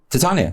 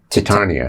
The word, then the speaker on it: Titania: to tony mcgraw do i'm mispronouncing her first name titania that's right americans struggle with it they often say titania to tititania titania they